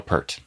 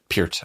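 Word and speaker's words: Peart: Alicia, for Chris, Getty Lee or Neil Per? Neil Per. Neil Per. Okay. Pert. Chris. Chris. What is the right pronunciation of his last name? Pier. Pert. Okay. P. Pert.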